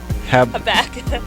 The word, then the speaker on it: Habakkuk: Habakkuk.